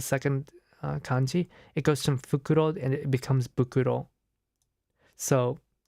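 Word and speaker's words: フクロウ: it's an owl so in Japanese right owl is pronounced fukuro uh and uh the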